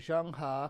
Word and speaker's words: Zheng He: to myself to remember how to say it, Zheng He, because I didn't even try to say it